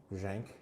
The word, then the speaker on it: Brzenk: How do you pronounce it? Brzenk.